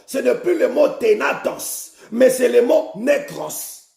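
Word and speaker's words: thanatos: Ténatos s'écrit T-H-A-N-A-T-O-S. Ténatos.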